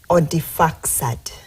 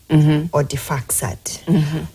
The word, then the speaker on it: Odifaksad: Odifaksad. It's from where? Odi, like, you spell it like Audi, but then you pronounce it Odi. Odifaksad.